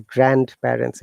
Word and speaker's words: grandparents: The grandparents. D is silent.